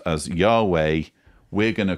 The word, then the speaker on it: Yahweh: Scholars say God is pronounced as Yahweh.